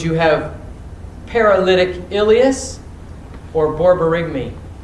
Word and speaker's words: borborygmi: tachycardia Would you have paralytic ileus or borborygmi?